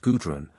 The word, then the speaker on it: Gudrun: 2 children were born to the royal pair, Ortwin and Gudrun, pronounced Gudrun, both of whom were strong and blooming as Nordland roses.